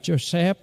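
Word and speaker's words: יוסף: bà anh chi em trong tiếng Việt của chúng ta gọi là Giuse nhưng theo nguyên ngữ của tiếng Do Thái phải đọc là josep bởi vì đây là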